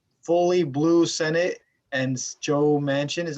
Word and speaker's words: Manchin: especially with a fully blue senate and joe manchin is how you pronounce his name is going to be probably